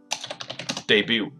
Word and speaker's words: debut: company debut 的意思就是，初次出场，OK，所以 debut，那 T 是不发音的，OK， debut its carriage